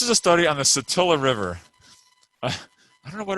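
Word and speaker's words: Satilla: is today in pronunciations i pronounced it satia when i first like was using this example and uh somebody in my class is like uh actually it's attila we go there every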